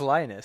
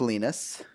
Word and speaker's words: Linus: I thought it was Linus. Nope, it's pronounced Linus.